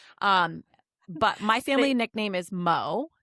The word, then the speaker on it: Mo: But my family nickname is Mo. M-O. But the O throws people off.